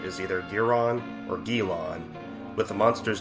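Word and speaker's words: Guiron: how's his name pronounced for years fans have confused the English pronunciation of game's knifehead opponent from his fifth film in Japan the monster is known as giron which stems from the French word Guillotine due to the origin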